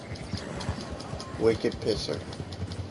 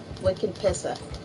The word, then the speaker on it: Wicked Pissa: what's your horse's name Wicked pisser you no you mispronounced it Wicked pissa uhhuh how'd you come up with that name from uh Boston from Boston pleas it's